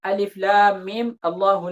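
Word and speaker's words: الم الله: Di sini ketika kita membaca ini, maka kita berikan harokat pada huruf mimnya. Mim terakhir itu alif lam mim Allahu la ilaha illahu.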